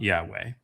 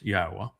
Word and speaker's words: Yahowah: And it's not Yahweh, it's Yahowah. Each of those letters is a vowel.